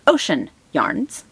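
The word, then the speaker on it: Oshen Yarns: It's Ocean Yarns. They're in Astoria, Oregon. Ocean, Astoria. Now it's not spelled O-C-E-A-N. It's O-S-H-E-N. But mind you, I'm listening, so I hear Ocean Yarns, which is how it's pronounced.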